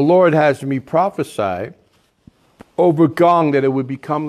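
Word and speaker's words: Ngong: Gong. That's how you pronounce it. The N is silent. Or kind of N. Gong. But Gong, you know. Kind of with a little G with a little bit of flavor on the front.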